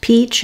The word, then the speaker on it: peach: So the stress in impeach falls on the second syllable, peach, and it's pronounced just the same as the fruit, peach. It has the clear E vowel, letter CH say the CH sound, peach, impeach.